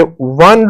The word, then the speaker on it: one: one a oneeyed man because one begins with the consonant sound of w o is a wall but the sound it's giving is of w that's why we will use the indefinite article a with it.